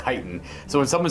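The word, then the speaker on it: chitin: As long As long as you know that it's pronounced ky-tin and not chi-tin.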